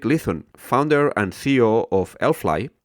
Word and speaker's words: Allfly: So now let's go to today's episode, because today's guest is Erik Lithun, founder and CEO of Allfly, or Allfly if you pronounce it the Norwegian way.